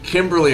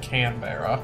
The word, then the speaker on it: Canberra: Kimberley, Australia. No, it's not Kimberley. It's like Canberra.